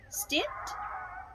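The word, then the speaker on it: Stitt: this year he was released so governor kevin stint i think that's how you pronounce his name well it looks more like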